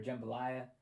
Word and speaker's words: jambalaya: And it mentions that she used to run the soup kitchen down the street, where she is known for jambalaya. And Is she hot? It's pronounced Jambalaya.